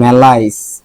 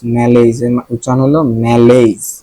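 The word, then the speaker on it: malaise: ওকে, তারপরে মেলাইস, মেলাইস, মেলাইস, ম্যালেইজ, ম্যালেইজ এর উচ্চারণ হলো ম্যালেইজ।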